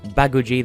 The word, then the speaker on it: Baguji: it is Luna taya in the same way that babu jee the stress on the first syllable because Santa billion be